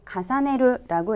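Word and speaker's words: 重ねる: 발음은 가사네르라고 읽고요.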